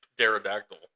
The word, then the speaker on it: pterodactyl: Pterodactyl. It's like P is silent.